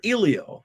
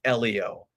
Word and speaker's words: Elio: check in, we said, "Now, is it Elio or Ilio?" And she rolled her eyes like, "Everybody's been asking us this. It's It's Elio.